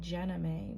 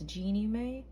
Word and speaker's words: Jeannie Mae: her name before because i was going to say jenna may but it's genie may and jeezy um i